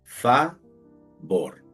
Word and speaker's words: favor: dividir se escribe favor la dividimos fa vor pero vamos viendo que la sílaba fa termina en vocal entonces tiene el sonido abierto que sería fei y la segunda sílaba tiene el sonido cerrado porque termina en consonante y decimos bor favor ahora la palabra decente